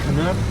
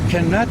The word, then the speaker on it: Canutt: I'd like to see, how do you say, Canutt? Is that how? Yakima Canutt, yeah.